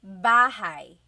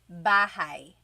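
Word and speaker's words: bahay: You might notice that the spelling is a y at the end. So it looks like bahi, but it's pronounced bahigh. That ay combination is bahigh.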